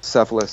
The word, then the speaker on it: Cephalus: Initially, Cephalus says, Cephalus or Cephalus, depending on which pronunciation you want to use, argues that justice is telling the truth and giving back what one owes.